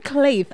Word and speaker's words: Kleith: Yeah, because, you know, when you're trying to pronounce it, it has a different pronunciation and a different spelling as well. So it's just Kleith.